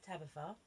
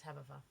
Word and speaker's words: Tabetha: It's Tabetha. Okay? So it could be Tabitha, but I pronounce it Tabitha.